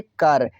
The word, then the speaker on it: कर: Next इस प्रकार है KAR पढ़ेंगे कर, के से क हुआ क्या क, अब आर से रा हुआ कर।